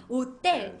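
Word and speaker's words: hotel: 그냥 호텔이라고 얘기하면 되죠 근데이 체라는 거라는 거 자체가 스페인어에서는 무음입니다 때문에 우리가 오텔 예예 오 안에 오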